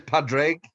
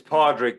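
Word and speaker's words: Padraig: we'll be chatting cheers padre am i pronouncing that right it's podrick but you can call me anything early in the mornings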